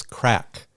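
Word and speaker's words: craic: long night of serious crack have you ever heard the word crack c r it's spelled c r a i c that's an Irish slang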